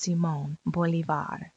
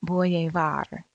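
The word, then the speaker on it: Simón Bolívar: bolivars name is pronounced Simone Bolivar the old fashioned English Way was to pronounce it boy a var as in the poem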